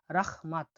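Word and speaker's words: rahmat: ধন্যবাদকে উজবেকিস্তানে বলা হয় রাহমাত। রাহমাত। তাহলে এখানে এইচটা ক্ষয় উচ্চারণ হবে, তাহলে কি উচ্চারণ হলো?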